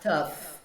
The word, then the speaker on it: tough: Eu fiz um vídeo que bombou no Instagram que foi falando do GH, tough, né? GH em tough tem som de F.